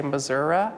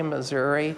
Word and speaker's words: Missouri: One person down the street that I might know will say Missouri. I'll say Missouri. And if you say Missouri, you're being very rural or very countrified. This state is both Missouri and Missouri. People pronounce it differently depending on what part of the state they're from.